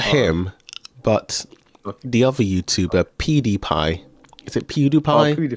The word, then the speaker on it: PewDiePie: Logan Paul, not him, but the other YouTuber PewDiePie. Is it PewDiePie? Pewdiepie. Yeah, him. Yeah. Let me um get this one up. Pie. That's it. Pewdiepie. No, it's PewDiePie.